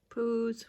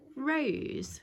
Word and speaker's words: rose: Right, it sounds like P to me. Peter. So she goes rose. Yeah, because you have to like make the R go longer. You have to roll your R somehow.